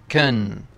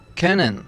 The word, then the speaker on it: können: Ein Kind nicht austragen können. You can pronounce können or können, but the more used is können.